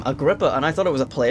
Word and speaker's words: Agrippa: So that's how you pronounce his name, Agrippa, and I thought it was a place by the sounds of it, but it's a person.